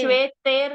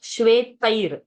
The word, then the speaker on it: श्वेतैर्: ततः श्वेतैर्हयैर्युक्ते Shveter no. Shvetair. I. ततः Say श्वेतैर्हयैर्युक्ते Like how we say hayai, like that tai, shvetai. It is ai ki matra.